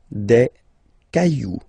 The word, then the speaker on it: cailloux: Okay, then un caillou, plural, des cailloux. Okay, remember, you don't pronounce it, the final X.